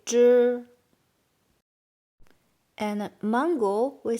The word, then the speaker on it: 汁: So Z we pronounce Z and ZH we pronounce Z. A little bit like in English DR pronunciation, driving or something, we say 知 and then this E doesn't make E sound. It's only for here, carry the tones.